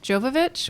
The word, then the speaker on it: Jovovich: here and just say Mila Jovovich which by the way is three syllables so my bad on